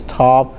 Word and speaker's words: Tav: So this is Tav. Sometimes it's pronounced, not like you dry with, but.